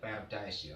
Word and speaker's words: paradise: Paradise. Surga. Bacanya paradise ya. Ojo paradis ya, paradise.